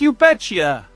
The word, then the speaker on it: you betcha: Often, in fast speech, it sounds more like you betcha. It's a very relaxed, fluid sound.